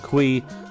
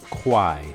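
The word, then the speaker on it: Kuai: used to call it Qui but apparently I found out the actual name is pronounced Kwai just think of why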